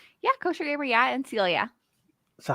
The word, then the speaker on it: Koshergamer: Yeah, Koshergamer, yeah, and Celia.